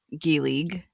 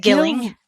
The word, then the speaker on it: Gillig: simple for you because you totally mispronounced Rachel Gillig, just to let you know, as per usual, but You said Gilling. There was no Gilling g i l l